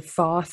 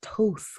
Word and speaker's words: Thoth: Anytime anybody mispronounces, like, say, Toth's name, there'll be a Thoth. I'm like, no, it's Toth.